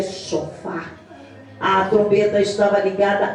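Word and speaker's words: שופר: Em hebreu se pronuncia shofar.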